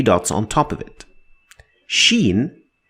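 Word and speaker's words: شين: Sheen is to be compared to the combination of sh in English. sh not ch like the sound at the beginning of the word sharp. Sharp. So sharp sh sound.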